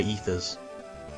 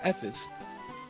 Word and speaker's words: ether: I still have no idea why you can't buy ethers. It's just I don't get it. I thought they were pronounced Evers. Well, it doesn't have a V in it. It's not gonna be ever.